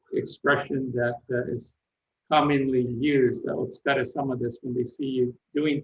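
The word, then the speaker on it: お疲れ様です: It's otsukare-sama desu. Otsukare-sama. And it's thank you for that effort that you're putting in, in a way, making yourself tired. So that's an expression that is commonly used, otsukare-sama desu, when they see you doing things for other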